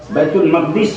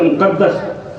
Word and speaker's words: بیت المقدس: تو مکہ معظمہ سے بیت المقدس تک، بیت المقدس یا مقدس دونوں تلفظ ہے، وہاں تک جو